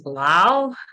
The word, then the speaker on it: Laos: now I'm sure it's loud because the French gave us that name and they don't pronounce the S uh if it's a